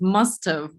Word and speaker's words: must have: Might have, must have, right? As for writing, again, they can write this way yeah, or they can write all the word have, but we pronounce it always short.